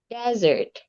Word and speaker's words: desert: They have different pronunciation and, of course, different meanings too. The first one, you pronounce it well. Correct, Tina. Dessert, okay? Dessert. What about the next one? It's desert.